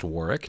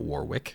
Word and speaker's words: Warwick: Davis is amazing and yes it's pronounced Warick not Warwick huh I just love